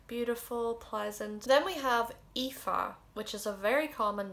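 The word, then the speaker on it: Aoife: lot of ifas and i know it's probably one of the most difficult to guess how to pronounce i don't think anybody would get it right on their first go because there's like so many vowels in there they're just missing you ifa means beautiful radiant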